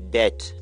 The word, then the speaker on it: debt: Guys, the correct pronunciation of this word is debt, not debt.